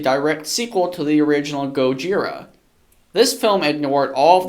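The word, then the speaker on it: ゴジラ: original film simply titled Gojira which is actually the Japanese pronunciation of the character's name it was filmed in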